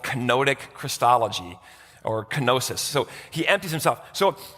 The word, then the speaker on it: kenosis: The Greek word is the word So here's another unpronounceable miracle. It's kenosis.